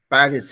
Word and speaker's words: Paris: एक जगह पे हमको लगा कि थोड़ा सा करेक्ट करना है, where you said Paris. Paris. You'll not say Paris, you'll say Paris. Paris है वो.